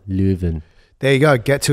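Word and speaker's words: Leuven: seminar in June uh it's actually lven and it's in June and apparently I've been pronouncing it very well lven there you go get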